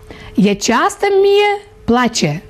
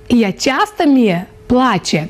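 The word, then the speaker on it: Asta îmi place: «Я часто міє плаче». «Я часто міє плаче». Друзі, ось таке незвичне, ось так незвично вимовляється словосполучення «це мені подобається» молдавською мовою.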